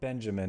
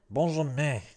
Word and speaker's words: Benjamin: Benjamin. Benjamin Goddard. All right. Yeah, well, they're French. It's their own fault for having half their letters be silent and the other half be some weird nasal pronunciation.